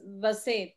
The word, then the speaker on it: vaset: Okay, we don't say like in the English word ways or vas, it's Vaset, Vaset, like that we pronounce it.